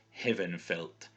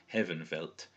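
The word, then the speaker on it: Hefenfelth: in Old English is Heavenfelt. And again, you can see the F being pronounced like a V there at the beginning. Heavenfelt.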